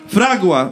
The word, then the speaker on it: Fragua: Fragua! No, niech wam będzie. Fragua. Akcent jest na pierwsze A, bo to jest hiszpańskie słowo.